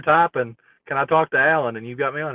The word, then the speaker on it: Alan: So is it pronounced? Is it Alan Faneca? Faneca. Or is it pronounced Alon? I'm both. He's Alon Faneca. Oh, that's where he got Alon. That's where I fucked up. It was Alon Faneca.